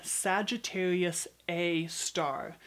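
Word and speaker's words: Sagittarius A*: center of the galaxy Sagittarius a star and notice it looks like an asterisk at the end it is in fact pronounced a star for a while the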